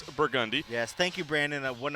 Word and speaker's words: Burgundy: Make sure you get it right. Burgundy, The locals say not Burgundy. it's not Burgundy. You will look like a chump if you say that. It is Burgundy.